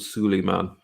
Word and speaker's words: Suleiman: think it's Neil Diamond has a song called Suleiman that's exactly how it's pronounced better than aside okay now we're on